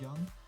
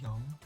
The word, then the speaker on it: Jung: was made up by carl jung um or young however you want to pronounce his name um its acronym comes